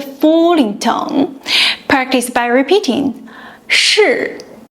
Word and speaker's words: 是: Lift the tongue tip close to the front of the hard palate. Now, ensure you're pronouncing it with the falling tone. Practice by repeating 是, 是.